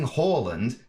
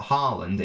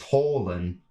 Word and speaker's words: Haaland: by the way i i know it's definitely not harland in like the norwegian i think it's holland i think but i say horland because it's a because i think